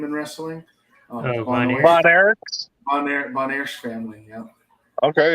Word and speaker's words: Von Erich: Von Oish? Is that how you say their name in wrestling? Von Erichs.